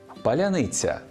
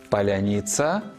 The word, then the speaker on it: паляниця: Вимова цього слова в часи війни стала маркером свій чужий, паляниця свій паляница чужий. І яких тільки мемів не створив наш народ про це смачне слово. Скажи паляниця або ось такий. А Нацбанк навіть викарбував монету. Все буде паляниця. Справді, росіянам важко вимовити це слово, бо в їхній мові немає м'якого звука ц.